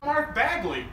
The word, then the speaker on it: Mark Bagley: Mark Bagley is that how you pronounce his name? Mark Bagley!